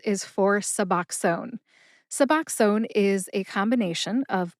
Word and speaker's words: Suboxone: Suboxone has three syllables. sub like substitute, ox like the animal ox, and own as in I own my microphone that I'm talking into right now.